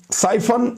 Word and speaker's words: Psiphon: साइफन fast and secure VPN, ये आप देख लें।